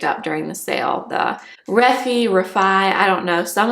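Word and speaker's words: Refy: Some of you have been telling me that you think it's Rafi. I've seen so many videos though where Katie Jane Hughes and uh Jess Hunt, who's the founder of this brand, say that everyone's saying it wrong that it's Reffy. But I don't know. So Rafi, Reffy, I'm not sure.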